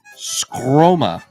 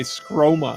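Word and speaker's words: Sqroma: now the next one is a great name scroma s-q-r-o-m-a scroma scroma okay summer days Tilly's tale and I'll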